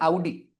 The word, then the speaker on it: Audi: brand ambassador Neeraj Chopra audi यह audi नहीं होता हां इट इज आउडी जैसे ये रेenult नहीं